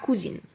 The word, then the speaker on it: cousin: son cousin sa cousine. بننطق cousin son cousin cousin. sa cousine cousine. cousin cousine.